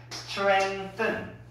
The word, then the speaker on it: strengthen: 그래서 발음이 strengthen. 이거 번데기 발음이라고 해서 해야 돼. 뜬, 뜬.